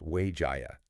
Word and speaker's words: 滙嘉: So 滙嘉 Health, it's actually pronounced Wayjaya.